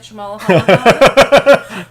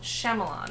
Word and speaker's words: Shyamalan: Night Shyamalan.